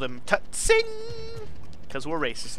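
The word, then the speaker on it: Tseng: By the way you pronounce this guy's name is Tutsing! No, it's probably just Sing or Sang, however you want to pronounce it. The T is probably silent.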